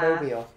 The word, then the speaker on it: Mobile: Hello from Mobile, Alabama. Mobile. Mobile. Is that how you say it? It's not mobile.